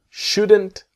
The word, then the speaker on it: shouldn't: So you shouldn't buy it now. And the T is silent.